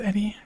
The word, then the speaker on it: Edie: I know it's pronounced Eddie, but Edie is a lot more robot-y to me.